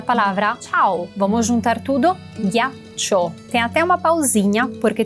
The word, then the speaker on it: ghiaccio: Então não olhe para como ela está escrita, só ouça ghi. O som ghi, que em português você escreve com G-U-I, a gente escreve com G-H-I, mas é exatamente o mesmo som, ghi.